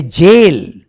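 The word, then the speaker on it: gaol: of the infinite a jail is this immense Material World now this is a interesting the English language yes g a o l is pronounced jail and g-o-a-l is pronounced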